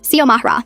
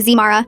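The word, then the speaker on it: Xiomara: X I O M A R A. I get that it looks intimidating at first, but it's not rocket science. Sio Mahra.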